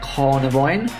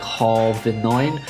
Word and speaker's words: Carnivine: We have a Carnivine. I'm pretty sure I've been pronouncing that wrong this entire time. I'm pretty sure I say Carvinine.